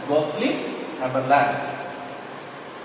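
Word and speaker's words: Gottlieb Haberlandt: Now L-A-N-D-T, Land, we have to pronounce it as Gottlieb, okay, G-O-T-T, but we have to pronounce this person as Gottlieb Haberland.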